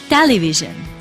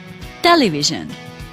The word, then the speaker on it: television: last one television television but which is correct only one is correct and this was the first one when the stress was on the first level so you see television that is the correct